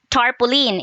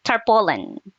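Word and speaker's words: tarpaulin: This one usually ang pronunciation ko nito before is tarpoline. It should be tarpolen.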